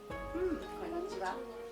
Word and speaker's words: konnichiwa: The tip is you don't want to put any emphasis on any of the word. So, not konnichiwa, it's konnichiwa flat. Konnichiwa.